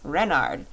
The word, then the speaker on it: Renard: Renard, with the accent on the Ren."